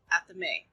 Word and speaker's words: athame: and it is pronounced at the may now this is an old old word so that's why it sounds different than it looks I hooked on phonics